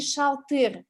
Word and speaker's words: шалтыр: Когда они вместе дымбер-шалтер, они с ударением на первый слог. Но когда они в одиночку стоят, дымбыр и шалтыр, то есть мы их воспринимаем как самостоятельные слова и их ударение на последний слог.